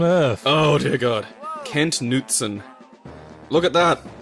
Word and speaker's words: Knutson: Oh dear god, Kent Knutson. Look at that. It's spelled Knutson though, isn't it? Like Scandinavian. Yeah.